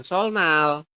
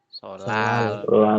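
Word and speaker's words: 설날: kayak gini kan tulisannya tetapi nanti anda bacanya bukan sol Nal tulisannya memang sol Nal seperti itu tapi nanti anda Bacanya adalah Sh apa solal Iya seperti itu ya hari raya solal seperti itu jadi perubahannya adalah kalau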